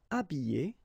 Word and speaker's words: habiller: Habiller, habiller, déshabiller, déshabiller. Okay, so you can see that here, this H here, this letter is not pronounced, so habiller and then déshabiller.